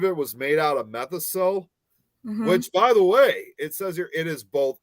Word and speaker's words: Methocel: A lot of the Blob slime juice was made out of I don't know how you say it, methocel. It's METHOCEL.